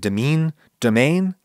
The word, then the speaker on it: demesne: It looks like demesne in French, but it's pronounced, I think, domaine?